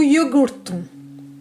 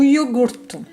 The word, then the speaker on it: iogurte: O iogurte. O iogurte. Sachez qu'en portugais, le U n'existe pas. Lorsque vous avez un U, vous le prononcez par le son OU.